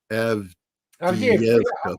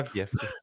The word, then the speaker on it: Avdiivka: I'm sure I just butchered that. Avdiivka. Yeah. Avdiivka. I've been saying it wrong all along.